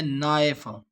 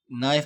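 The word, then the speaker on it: knife: इसके बाद है नाइफ यहां पे के साइलेंट है। और यहां पे डब्ल्यू में राइट में डब्ल्यू साइलेंट है। इसी तरह नाइफ में के साइलेंट है।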